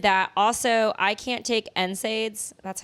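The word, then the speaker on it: NSAID: so I did that also I can't take nids that's how you say it right I have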